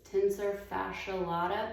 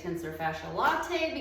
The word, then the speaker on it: tensor fasciae latae: I have trouble pronouncing it's like tense tensor fasciae latae but I usually just say tensor fasciae latte because I like lattes there you go raise